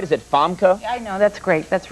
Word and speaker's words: Famke: It is, though, because everybody mispronounces my name all the time. They make Famke or Famke or whatever out of it. Really? Well, Famke.